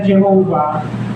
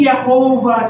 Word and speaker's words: Jehovah: Pero dahil nga walang vowels ang ah Hebrew Hebrew words, kinuha nila doon yung vowels na Adonai, yung apat na bawal sounds, bawal sound sa Adonai na mga English translators idinagdag nila doun sa pagitan nung apat na letters na iyon. Kinuha nila yung tatlong ah bawal sounds. Ah a o a okay sa Adonay T's inipit nila doun sa tatlong tatlo sa apat na letters. So naging Yahova siya.